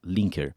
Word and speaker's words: Linker: E quando você pega a tua experiência dentro de Neon e resolve, me ajuda se eu estiver pronunciando da maneira correta, é Linker. Linker.